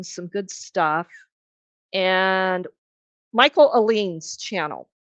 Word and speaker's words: Ehlines: And Michael Aline's channel.